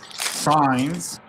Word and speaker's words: Sainz: Carlos Sainz. Signs. Yeah.